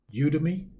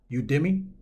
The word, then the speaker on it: Udemy: of the site is you to me oh I think it's pronounced udemy now on this site